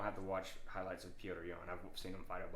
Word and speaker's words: Petr Yan: Petr Yan.